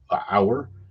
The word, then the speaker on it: Auour: it's spelled auo Ur but it's pronounced hour and one of the